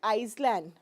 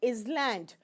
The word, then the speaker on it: island: anything okay like uh I've seen some people call it i s l a n d okay some people call it iseland some people call it Island okay but I call it Island s is silent here but why s